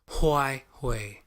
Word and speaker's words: Huawei: First of all, how you pronounce that company name again? Huawei.